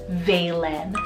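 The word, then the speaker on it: Vaelyn: Now for the letter V, I love Valen, spelled V-A-E-L-Y-N.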